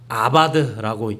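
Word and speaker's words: עבד: 이 단어는요, 아바드라고 읽습니다.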